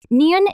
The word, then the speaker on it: 니은: 니은, The name of this consonant is 니은, nieun is the same N sound you make when you pronounce nose.